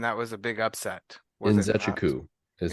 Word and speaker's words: Nzechukwu: Nzechukwu is how you pronounce that.